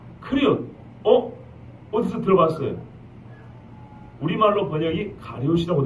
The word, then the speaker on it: 그리옷: 25절 중반에 보면 그리옷 있죠? 예. 원래는 여기는 발음이 크리옷이라 됩니다. 크리옷.